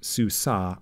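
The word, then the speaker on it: סוּסָה: a feminine singular noun sue saw that's a feminine horse which evidently in English we call a mare so if it does not have so it's pronounced sue saw either way if it does not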